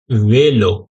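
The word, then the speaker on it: vélo: ठीक है अभी देखिए यह जो ई है इसके ऊपर यह मार्क आया है ये एक्शन आया ना जहां भी इस तरह का एक्शन आता है तो हम लोगों को ए प्रोनाउंस करना पड़ता है प्रॉपर क्या ए वे वेलो वेलो वेलो ठीक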